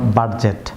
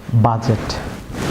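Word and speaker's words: budget: যেমন wedge viewers, এখানে D silent থাকবে ওয়েজ ভিউয়ার্স। যেমন ফ্ল্যাজ, ফ্ল্যাজ। যেমন বাজেট, নট বাজেট, বাজেট।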